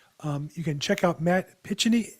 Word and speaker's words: Picheny: showed us today, you can check out Matt Picheny. How do you pronounce it? Picheny? It's Picheny, actually, yeah.